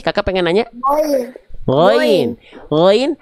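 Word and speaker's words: غين: Gain dibacanya jangan kayak huruf G. Memang kan kalau ditulis pakai bahasa Indonesia G gitu kan. Tapi kalau huruf gin dia ada ngalir suaranya lebih lembut.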